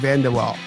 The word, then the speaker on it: VanDeWalle: people doing fascinating things like today's guests Steve vanderwaal am I pronouncing that right Steve you are Steve vanderwaal that's right he's a Serial entrepreneur and host